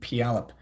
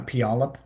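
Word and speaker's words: Puyallup: you have fun also it's pronounced squim and pialp uh pialap okay my room record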